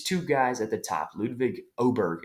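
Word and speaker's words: Ludvig Åberg: guys at the top ludic oberg is how everybody's saying to pronounce it now and Tom Kim those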